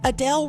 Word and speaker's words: Adele: And what about all the time we've been spelling or saying Adele wrong?